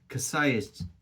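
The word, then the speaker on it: Książęce: the brewery is is pronounced in English they say casay kay polish is chenza or think or something like that anyway it's that Brewery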